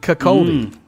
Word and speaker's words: Kirkcaldy: How would you pronounce that? Kirkcaldy.